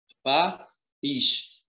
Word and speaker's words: país: Ó, país. Então, você tem aqui a sílaba mais forte.